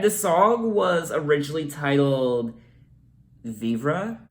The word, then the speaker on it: Vivre: And the song was originally titled Vivre. I actually did look up the pronunciation of the word, and it's pronounced Vive.